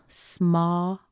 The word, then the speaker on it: small: We can say ah, the same ah as in father, followed by a little tiny ul, small, blend it together, small, or you could possibly say small. Small. Now I'm on the West Coast. I don't really say this one as much. I would probably choose small with a much bigger sound.